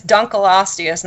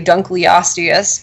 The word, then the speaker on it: Dunkleosteus: fossil fish was incredible there are is besides Dunkel ostia sand that's how you pronounce it a lot of people say Dunkleosteus but it was named for David uncle who